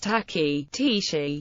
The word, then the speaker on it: ταχύ: A tachyon, ṭæki.ʒn, or tachyonic particle is a hypothetical particle that always moves faster than light. The word comes from the Greek tau alpha chi upsilon, pronounced tachy, meaning rapid.